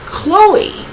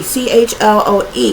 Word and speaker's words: Chloe: Lucifer's First Love was Chloe if I'm pronouncing that right I believe it's Chloe c h l o e Chloe um so anyway